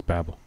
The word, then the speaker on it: Babbel: goes big 55% they're not messing around it's Babble baby that's Babble you know what our last sponsor is it's